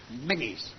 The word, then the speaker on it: Menzies: It's pronounced Menzies.